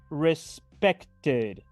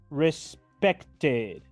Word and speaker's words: respected: En pasado simple diré respected. Respected. Escuchen de nuevo. Respected. Pronuncio la ED del final como una ID.